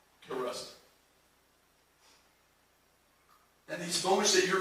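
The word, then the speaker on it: Kairos: There's a word in the Bible it's spelled K-A-I-R-O-S. Karust.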